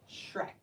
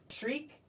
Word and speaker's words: shriek: what is that shouting shriek Shrek shriek Shrek the I and the E make a long e sound and this follows the